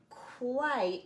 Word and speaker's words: quite: because of that vowel any time you have two not any time most of the time when you have two vowels the second one is silent and the first one is the name of the letter i so one more time